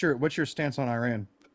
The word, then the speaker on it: Iran: It's not Iran. It's Iran.